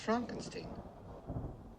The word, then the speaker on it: Frankenstein: Castle Frankenstein you're putting me on no it's pronounced Frankenstein do you also say frck no Frederick well